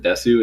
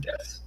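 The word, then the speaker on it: です: a lot of people a lot of weeabos pronounce it Desu it's actually just death this this yeah like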